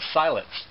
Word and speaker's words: Siletz: This one right here is called Siletz. I believe that's how you pronounce it, S-I-L-E-T-Z.